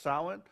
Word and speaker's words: Samhain: back to this uh Celtic um Day called sin that's sa a m Ha i n it's pronounced sin uh is it associated with a a Roman